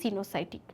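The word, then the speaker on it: coenocytic: কারণ সিনোসাইটিক বানানটা হচ্ছে কোইনোসাইটি। খেয়াল করো কোইনোসাইটিক। কিন্তু এটার উচ্চারণ সিনোসাইটিক।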